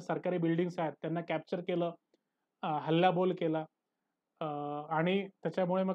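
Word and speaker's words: coup: buildings आहेत त्यांना capture केलं हल्लाबोल केला आणि त्याच्यामुळे मग काय झालं एक प्रकारचं त्याला आपण म्हणतो कुला आपण म्हणतो पॉलिटिकल कु पण त्याचं जे स्पेलिंग आहे ते वेगळं आहे सी ओ यु पी पॉलिटिकल कु म्हणजे काय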